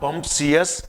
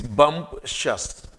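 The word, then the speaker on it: bumptious: पहले तो प्रोनाउंसिएशन देखिए, इट्स नॉट बम्पशियस, इट्स बम्पशस।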